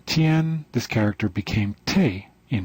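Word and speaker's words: 天: the character heaven in chinese in mandarin it's pronounced tian this character became te in hiragana and this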